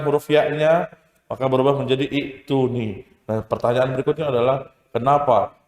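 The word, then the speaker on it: ائتوني: Ketika dia 2 jadi 1, dihapuskan huruf ya-nya, maka berubah menjadi i'tuni. Nah pertanyaan berikutnya adalah kenapa? Kalau kita mulai dari kata i'tuni, bacanya adalah bukan i'tuni tapi ituni.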